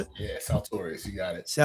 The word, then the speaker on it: Saltorious: Is that how I pronounce it? Yeah, Saltorius. You got it. Saltorius, how are you doing today, Saltorius?